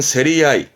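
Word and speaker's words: 競り合い: 발음은 세리아이, 세리아이.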